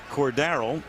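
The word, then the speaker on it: Cordarrelle: last night I said cord darl and that's the correct pronunciation with the accent on the second syllable is that a family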